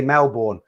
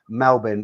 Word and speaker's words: Melbourne: say you know typical english people we say melbourne that's how it looks that's how it's propelled that's how it looks for us but obviously i'm saying it wrong and it's pronounced melbourne but don't you just love that name bigger